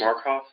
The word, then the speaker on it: Markoff: Would you pronounce and spell your last name, please? Markoff, M-A-R-K-O-F.